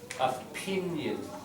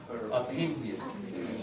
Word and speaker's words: opinion: line just uh pronunciation a pinion you just had front stress on that James just pin has the stress not opinion opinion yeah all right uh